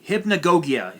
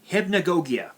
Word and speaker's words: Hypnagogia: mirror fantasy dreamer hypnagogi hypnagogia hip hip hypnagogia cybernite if you watch this video it's pronounced hypna gogia that's how it's pronounced actually you know what